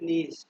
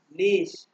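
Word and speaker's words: niche: নিশ। বলেন তো কি? এটার উচ্চারণ কি বলি আমরা? আরে দুনিয়াতে কি শিখতে আসলাম? CHE। এটাকে কি বলা হয়? নিচে। নিচ বলা হয় না নিচে? এটার উচ্চারণ হবে নিশ।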